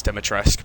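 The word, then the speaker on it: Dimitrescu: I know it's Dematresque, but I just call her Dematrescu because she's got a U at the end of her name.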